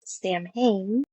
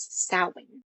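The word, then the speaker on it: Samhain: They pronounced it uh as Sam uh which Lumis says the festival of Sam but uh the correct pronunciation of that is sin.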